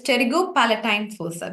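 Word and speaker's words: pterygopalatine fossa: into it's a forer starting with P where p is silent can someone type the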